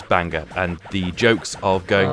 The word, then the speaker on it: Bangor: small Welsh town called Bangor and Bangor or whatever they pronounce it it's Banga and the jokes of